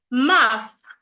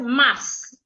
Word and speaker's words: muff: The first set, I have muff and moss. Most times, I hear Ghanaians pronounce the first word as mass. Mass is mass time. I hate mass. No. The word is muff.